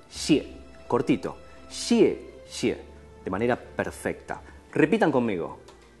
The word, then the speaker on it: 谢谢: Xie xie parecerían ser dos sonidos similares, pero que cambian el tono. Xie, cuarto tono, descendente, casi como con tilde. Xie, y la segunda un tono ligero.